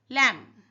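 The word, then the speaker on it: lamb: लम द लम इज़ एड्रोबल। यहां पे B silent है।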